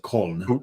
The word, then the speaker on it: Köln: So from what I understand, if you're in Cologne and you've got a Kolsch, how the Germans pronounce it, Köln.